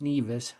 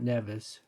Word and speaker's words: Nevis: I looked it up, and it is pronounced Nevis, not Nevis.